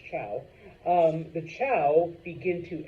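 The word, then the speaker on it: Zhou: come in the Chow I know it's a z but it's pronounced Chow um the Chow begin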